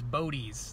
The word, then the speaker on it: Bodez: the video as well but I found the pronunciation is bodis that's what he told me and he's been